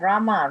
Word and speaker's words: Rama: the ways krishna and rama rhymes with drama are sanskrit words is